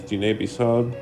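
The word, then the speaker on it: Diné Bizaad: We have hello, which is pronounced ya'ate. We have thank you, which is ajeje. And the Navajo language is Dine Bisab, and tank is Chidina e be el do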